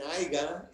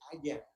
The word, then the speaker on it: haya: Y les digo, no, no se dice haya, se dice, espero que haya mucha comida.